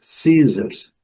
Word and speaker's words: scissors: Não pronuncia o C, mas pronuncia o S com som de C, fica na mesma, ok? Sim, science, scissors.